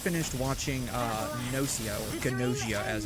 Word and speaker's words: Gnosia: watching uh Nozio or Gnosia as it's pronounced in the English dub. It's a weird pronunciation. But they actually pronounce the G.